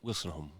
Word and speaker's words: Woolstenhulme: If you could hear my great grandfather pronounce it, he was the one that came over from England. He would have pronounced it Woolstenhulme. Wilson. Woolstenhulme. It's not Wilson.